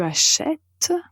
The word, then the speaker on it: achète: est très important et qui en fait obtient l'accent grave sur la lettre E et donc la prononciation au présent change en comparaison avec l'infinitif.